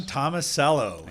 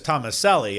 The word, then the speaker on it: Tomasello: don't believe that well she probably still says thomas ellie uh she probably does